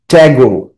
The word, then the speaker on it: Tagore: তো এখানে বলছে রবীন্দ্রনাথ ট্যাগোর, ইংরেজিতে উচ্চারণটা ঠাকুর হয় না, ট্যাগোর, ঠিক আছে?